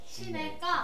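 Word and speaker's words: 시냇가: 원칙 발음은 시내가. 그렇죠. 시내 그대로 발음하고 까 하는 게 이게 원칙 발음이고요. 그 다음에 허용 발음이 그렇죠. 넷가 이렇게 적는 게 이거의 허용 발음이 되겠어요.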